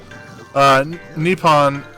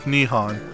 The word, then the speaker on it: Nippon: is Eason Isan Isan nippon pronounced just like Nihon nippon nihaan all of